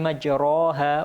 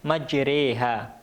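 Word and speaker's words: مجراها: udah movie habis millahi majroha wamursahaa tulisannya majroha tapi membacanya majreha j48 majroha maka cara membacanya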